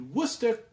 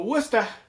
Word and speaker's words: Worcester: The Worcester. My My mother would be like, "Just say it right, Christopher. It's the wor.